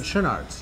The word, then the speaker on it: Schoenaerts: She and her co-star, whose name I never, you pronounced it right. Matthias Schoenaerts? Schoenaerts, yes.